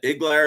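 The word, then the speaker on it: Iglauer: So Bruce is that Iglar?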